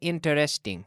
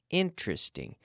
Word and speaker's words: interesting: there are several interesting interesting that three syllables interesting we don't say interesting no interesting there are several several